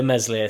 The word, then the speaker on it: Meslier: And yes, I can spell Meslier, but I can't say Meslier, silent S.